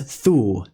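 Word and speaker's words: þū: The same word may be spelled eth, U with a macron, or thorn, U with a macron, but they're both pronounced as thu.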